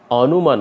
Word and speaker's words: অনুমান: যেহেতু অ এর পর হস্য পেয়ে গেছি, এই কারণে এ অ এর উচ্চারণ অ এর মতো হবে না, এটা হয়ে যাবে ও এর মতো। দিয়ে আমরা উচ্চারণ করব অনুমান। অনুমান উচ্চারণ করব না, আমরা উচ্চারণ করব অনুমান।